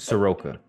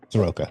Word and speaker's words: Soroka: Soroka. Soroka. Okay. I've been pronouncing that wrong in my head for 10 years.